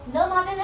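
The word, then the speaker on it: matin: Okay, सो ल मार्टिन, you don't say it like मार्टिन, you talk it like ल मार्टिन. ठीक है, मार्टिन आपने सुना रहेगा, इट्स फेमस टर्म. सो ल मार्टिन इज मॉर्निंग.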